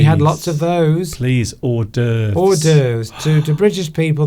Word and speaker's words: hors d'oeuvres: You don't pronounce the H. You're supposed to say hors d'oeuvres.